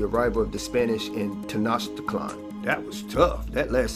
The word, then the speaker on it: Tenochtitlan: Beginning shortly after the fall of Tenochtitlan, the Aztec capital, yeah, that's how it's pronounced, I had to look it up, and continuing through 3 centuries of Spanish rule.